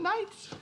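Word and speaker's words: knight: play on words plus the K and night is silent and we're called the silent nights we're called the silent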